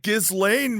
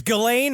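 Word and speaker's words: Ghislaine: Gizlane Maxwell. No, it's Gain Maxwell, but it's spelled with a jizz in the front of it, which is why Jeffrey Epstein loves her so much.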